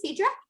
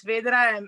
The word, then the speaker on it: Phaedra: So Phaedra, am I pronouncing that correctly, Phaedra? Yes, please introduce yourself. We want to learn about you. Good evening and thank you everybody. My name is Phaedra.